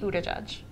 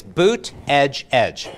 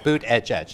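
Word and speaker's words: Buttigieg: a little bit and the way you say it it's boot edge edge boot edge edge and the safe as Buddha judge he's got he's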